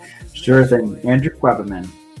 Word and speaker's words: Quebbemann: Will you pronounce it for us? Sure. Then Andrew Weberman and Andrew, while everybody's still getting on